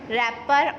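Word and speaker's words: wrapper: इसी तरह से आई saw dash रैपर ऑन the road. अब रैपर में W तो पहली बात है कि म्यूट कॉन्सोनेंट है क्योंकि हम इसको प्रोनाउंस नहीं कर रहे, और हमारा सेकंड लेटर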